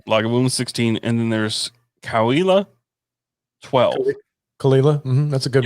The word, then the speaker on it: Cahuilla: Me and Allison we actually looked up the pronunciation. It's Cahuilla is how you pronounce it.